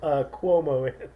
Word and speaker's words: Cuomo: governor we don't vote Cuomo although rhymes with homo did you know that